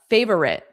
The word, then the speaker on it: favorite: I would not put a slight uh cuz then it would sound like fa favorite. Favorite favorite. So it's the difference between three sounds and two sounds. Favorite favorite. Favorite. Favorite. That doesn't sound American to me. Favorite. Favorite two sounds indeed.